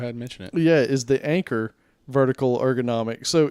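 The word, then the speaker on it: Anker: familiar with that brand anchor is not like spelled like the boat anchor but a an keer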